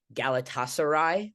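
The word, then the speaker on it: Galatasaray: basketball in Turkey for galatasarai I hope I that's right I hope I pronounce that right you did you actually nailed that oh um and you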